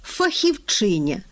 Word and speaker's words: фахівчиня: А ще з'явилося красиве слово фахівчиня з наголосом на суфіксі на третьому складі.